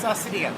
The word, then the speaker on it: Cydia: It's Cydia.